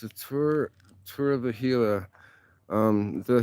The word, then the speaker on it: Gila: doesn't know it's pronounced hila the G is uh silent or as a h